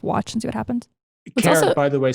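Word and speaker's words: Karat: Carrot, by the way, spelled with a K.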